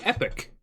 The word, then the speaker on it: Epoch: Epoch? Epic? We're going to figure out how to pronounce that word right now. Epic. Epic. It's actually epic. Epic. Epic. That's what I thought it was. Almost like EPIC.